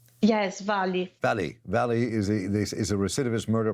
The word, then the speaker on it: Vale: you said Vale, is how you say it, Vale? Yes, Vale.